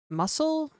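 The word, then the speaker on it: musl: It seems that muscle, is that how people pronounce it? M U SL. Um, yeah, that's basically what I got when I Googled it.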